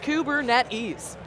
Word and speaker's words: Kubernetes: there so in case you're wondering how to pronounce the name of the platform that we keep talking about here it is kubernetes just in case is this a red Hatcher